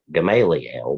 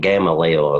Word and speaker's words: Gamaliel: the name Paul's here I like saying that got Gamaliel but I think gamma leo is the actual pronunciation verse 11 a Benjamin